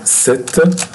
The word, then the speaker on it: cet: Here we have to add t for ce, to be set. To be set with one t. Pay attention, we pronounce this set like this exactly. Set with double t.